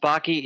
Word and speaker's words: Backe: so uh but yeah my last last name is pronounced baky it rhymes with hockey and what I've actually